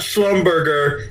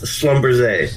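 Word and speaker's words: Schlumberger: Say it correctly. It's not Schlumbumber. It's Slumber.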